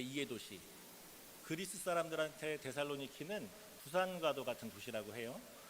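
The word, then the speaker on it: Θεσσαλονίκη: 데살로니가 인 의 교회에 편지 한다 라고 써있어요 데살로니가 그래서 이 말씀이 데살로니가전서 줘 그때 우리가 사실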